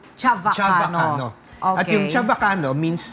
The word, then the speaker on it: Chavacano: the original Spanish term ang pronunciation ni Chavacano chava hindi chaba Chavacano Chavacano at yyung Chavacano